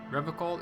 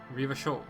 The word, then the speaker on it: Revachol: Revocol is pronounced Revachol.